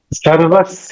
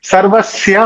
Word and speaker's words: सर्वस्य: कृत वेद विदेव चाह सर्वस चाह सनवि्ञानो वेद सर्वो वेदांत कृत वेद विदेव चाह सुंदर बढ़िया मुझे लगता है थोड़ा सा यह भी थोड़ा सा उच्चारण में सर्वस्या होगा मैंने सर्वस बोल दिया सर्वस अप वेदांत कृदस